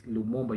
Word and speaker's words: Lumumba: It is Lumumba, yeah? Lumumba. The way they pronounce it when it comes to African. No, in in Swahili it's Lumumba. You just read it the way it is.